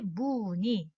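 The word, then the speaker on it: 무늬: 이 모음으로 발음한다. 이 모음. 그래서 일일이 무니, 희비, 티우다.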